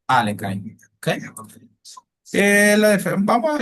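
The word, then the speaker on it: Alekhine: Eh, vale, la defensa a la defensa leing o del la pronunciación correcta sería la defensa Alenin.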